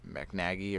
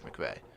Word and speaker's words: McVay: to be able to outcoach how do you pronounce his name? McNaghy or something? No. Who? L.A.? Yeah, who's Sean McVay?